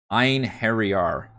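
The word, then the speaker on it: Einherjar: how to actually pronounce it it is apparently pronounced ein harry r the iron harry r warriors which are the the ghost warriors that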